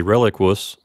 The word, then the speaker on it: reliquus: I did some research on this one and found that the two U's at the end do not each get their own syllable. So we'll squish those last two U's into one syllable and say reliquus.